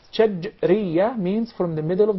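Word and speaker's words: شجرية: Some of even the Arab would say shajariyah, and there is a big difference between both of them. When there is a sukoon on the letter jim, that's shajriyah, means from the middle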